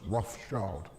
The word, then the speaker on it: Rothschild: Yeah, their name originates from Red Shield, Rothschild, but it's still pronounced Rothschild.